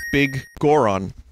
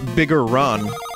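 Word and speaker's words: Biggoron: had a bomb flower that's how you pronounce bigoron yeah it's big goron it's not bigelron it's not bigger ron i guess the elder was saved wait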